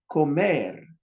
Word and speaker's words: comer: Comer. See the stress? You got ko and you got mer. Put your mouth in the position of the M.